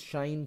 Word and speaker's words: sinh: the last video itself the proper way to pronounce this is shine K than Kos can